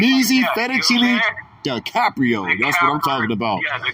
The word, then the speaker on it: DiCaprio: It's duh, not D. DiCaprio. DiCaprio. Yeah, I like that. Fettuccine, duh, like. What you mean that you ain't heard of him? What you mean? Duh. Like, Meezy Fettuccine DiCaprio.